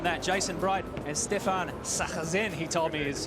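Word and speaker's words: Sarrazin: Jason Bright and Stefan Sachazen, he told me is how you say it.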